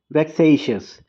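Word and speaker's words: vexatious: शब्द है वो है वेक्स शियस इसमें टी साइलेंट है इसका मतलब होता है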